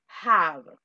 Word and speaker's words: have: Ok, y la última, seguimos teniendo problemas con el verbo tener, no es have. Yo no sé por qué no lo pronuncian así, hey, es have.